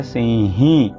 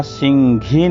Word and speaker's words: सिंही: देखें Gulf your नार सिंही अब यहां सिंघी नहीं बोलेंगे घ जो बोलते हैं गलत शुद्ध उच्चारण सिंही ही होना सिंह होता है सिंह नहीं होता इस चीज का ध्यान